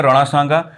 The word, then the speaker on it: राणा सांगा: और ये जो राणा सांगा है हिंदी में क्या प्रोनाउंसिएशन करते हैं, राणा सांगा।